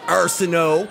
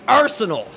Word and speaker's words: Arceneaux: that stupid French way it's not Arsenault its arsenal Arsenal like arsenal of weapons arsenal of moves I am NOT nor